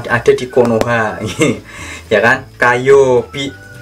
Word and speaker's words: 火曜日: Kayobi. Bacanya Kayobi.